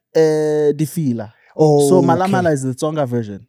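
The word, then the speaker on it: Mhalamhala: Yeah, in Tsonga, the H is silent.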